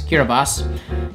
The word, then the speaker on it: Kiribati: hunting within their borders kiribati which is pronounced locally as kirabas is the best at